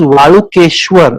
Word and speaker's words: Valukeshwar: And so it is Valukeshwar, that's the real pronunciation.